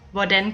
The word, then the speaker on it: hvordan: The same thing goes for the H at the beginning of hvad, hvor, and hvordan.